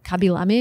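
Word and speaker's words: Khaby Lame: Kabilame is the right way to pronounce the #1 TikToker.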